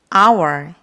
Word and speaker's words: hour: 결정된다는 걸 잊지 마세요 hour 시간이라는 단어죠 한 시간을 말하고 싶을 때 어을 쓸까요을 사용할까요 정답은입니다 어 h 시작하는데 왜 언니에요 여기서 h n 무음이에요 소리가 나지 않아요 그래서 our 모은 발음이